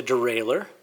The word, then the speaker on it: derailleur: a french word um the french would probably pronounce it differently than i am but we call these a derailleur and it does the